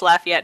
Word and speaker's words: Lafayette: or laugh I eat that last word has three syllables sir ah no this is silly I'm like I'm currently having a go on shape flashbacks moving perfect it is though it's Lafayette not polluted this weird